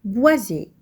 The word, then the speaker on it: boisé: Prenons le mot boisé. Dans ce mot, le S se trouve entre 2 voyelles, la voyelle I et la voyelle E. On entend Z, boisé.